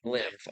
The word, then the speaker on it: Lilmv: Lilmv. Okay, yeah. The V is silent for some reason.